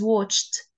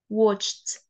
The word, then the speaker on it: watched: no say it as watched watched okay like Ed is pronounced as T the same as walked watched looked not looked not walked